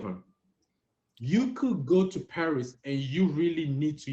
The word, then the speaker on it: Paris: word for me T Paris Paris I don't know Paris she remember the S at the end of the word is what oh Sil she remember you don't say Paris you said par M so that's the